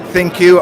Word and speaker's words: ThinQ: You said it right, ThinQ.